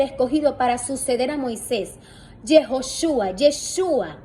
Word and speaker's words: Yeshua: Yeshua es la pronunciación, porque Josué, Yeshua es esa sombra de nuestro don Yeshua, porque es Josué quien introduce al pueblo a la tierra.